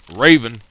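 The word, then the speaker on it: Rayvan: We have Subodai, or forgive me for mispronouncing that, Subodai. We have Raven.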